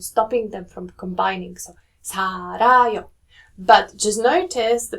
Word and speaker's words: 살아요: When you're saying 살다 or 살, then that rear sounds more like an L sound, right? But if you're saying 살아요, it sounds more towards the R sound.